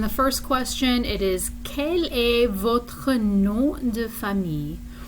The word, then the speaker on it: quel: You see quel, Q-U-E-L, and quelle, Q-U-E-L-L-E. They are pronounced in exactly the same way, but they have the same meaning.